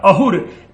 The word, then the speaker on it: अहुर: हमने बताया था कि अवेस्ता में जो स है उसका उच्चारण ह हो जाता है और असुर शब्द वहां पर अहुर इसीलिए जाकर के बन जाता है, असुर शब्द अहुर।